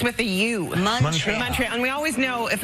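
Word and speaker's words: Montréal: you were born in Montreal and we're celebrating Montreal am I saying it wrong no you are the sweetest for even trying to say it we pronounce it Montreal like it's with a youal Montreal and we always know if an American's like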